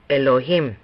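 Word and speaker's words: אלהים: En primer lugar, hay un énfasis en la última sílaba de Elohim, como se dice en el tablero. Por lo tanto, cuando pronunciamos esto, diríamos Elohim.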